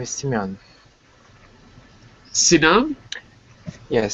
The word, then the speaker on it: Sinam: Sinam? Yes, Simeon. Sinam.